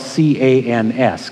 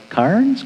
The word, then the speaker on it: Cairns: from sydney to cairns sounds like that should be spelled c-a-n-s cans but it's actually c-a-i-r-n-s how anybody gets cans out of that one